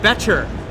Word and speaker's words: Boettcher: am joined by jared becher that's thatcher silent o as opposed to my